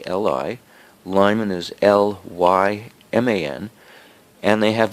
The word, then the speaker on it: Lyman: Colley is spelled K with a double A, L-I. Lyman is L-Y-M-A-N.